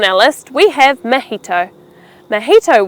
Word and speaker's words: mojito: Mojito was founded in the country of Cuba, where Spanish happens to be the predominant language. And that's pretty much why we say it the Spanish way.